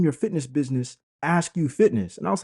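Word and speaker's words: Akew: right my last name is literally ask you but it's spelled a ke e w all right all right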